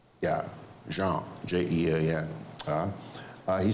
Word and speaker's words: Jean: Jean, J-E-A-N. He says the American reporters are pronouncing it as John, rhyming with Sean, as in Sean Connery.